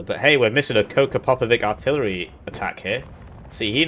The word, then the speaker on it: Koča Popović: Koča Popović. There you go, that's how you say it.